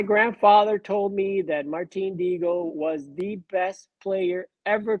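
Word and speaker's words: Dihigo: Martin but it's really you don't pronounce the h so it's Martin Deo that's how you say it in Cuba and my grandfather told me that Martin deago was the best player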